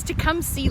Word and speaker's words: Tecumseh: It's Tecumseh, like to come see someone.